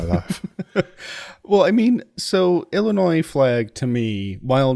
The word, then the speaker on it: Illinois: in conversation I say Illinois because that's how it's pronounced but when I'm reading it I by default I'm pronouncing every letter and so I get